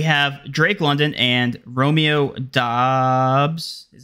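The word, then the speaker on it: Doubs: all right we have Drake London and Romeo Dobbs is how you pronounce his last name Dobbs yep Romeo Dobson uh that's a that's the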